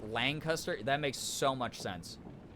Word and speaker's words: Lancaster: my husband's from and if you are anywhere but Lancaster you say it the way you just said it but if you're uh from there you pronounce it Lancaster okay that makes so